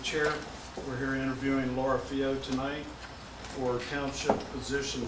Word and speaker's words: Fillault: All right, so my name is Laura Fillault. It is French. My husband is French, but he's also American now. And you say it F-E-E-Y-O for those of you who are phonetically minded.